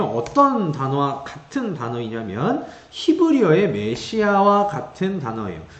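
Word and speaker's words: מָשִׁיחַ: 발음 그대로 하자면 이렇게 발음이 됩니다. 마샤 이렇게 발음이 돼요.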